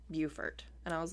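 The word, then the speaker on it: Beaufort: we're saying it it it's actually both it's bfort North Carolina and bufort South Carolina because when I was in South Carolina I was like oh bfort that's an interesting town and everyone was like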